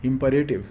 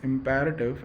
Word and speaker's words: imperative: are called as imperative though most of the Indian students pronounce it as imperative it's not imperative it's imperative and such sentences are